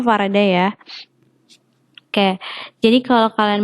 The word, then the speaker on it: Faraday: Jadi ketika kalian itu bacanya harusnya Faraday ya.